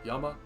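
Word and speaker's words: 山: And that kanji is pronounced Yama.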